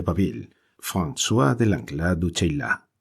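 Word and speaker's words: Chayla: Y bien, el jefe y el adelantado de la persecución, después de la Mignon de Baville, François de Langlade du Cheylat, se pronuncia Cheylat, arcipreste de los Evans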